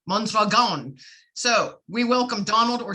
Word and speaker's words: Mondragon: His name is Donald Mondragon. No, Mondragon. I've been practicing the pronunciation of his names, folks, his last name. So it's Mondragon.